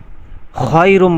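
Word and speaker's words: خير: কত বড় ভুল হয় দেখেন খাইরুম বলতে হবে আপনি যদি বলেন খাইরুম মিনান নাউম তাহলে হবে না খেয়ে জবর খাই রাম মিম দুই পেশ রুম খাইরুম রুম এখানে মাল গুন্না এক আলিফ পরিমাণ গুন্না করতে হবে যেহেতু তানবিনের পরে মিম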